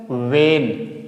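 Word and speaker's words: when: तो इस एच को हम साइलेंट बनाएंगे यानी कि प्रोनाउंसिएट नहीं करेंगे। ठीक है? तो इसे क्या बोलेंगे हम? वेन।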